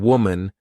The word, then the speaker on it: woman: not women's or woman even though the uh the singular and plural forms of women and woman have the same spelling at the beginning wow M the pronunciations are different woman women so watch out for that when you say this